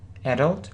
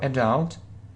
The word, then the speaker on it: adult: read them mostly online adult or adult I hope you'll pronounce it correctly who knows he wants to be an adult or adult so British or American English both variants are correct yeah adultery Adventure do